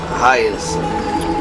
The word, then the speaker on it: Hyacine: Hyacine. Thank you for taking care of the wounded of the past few days. Hyacine.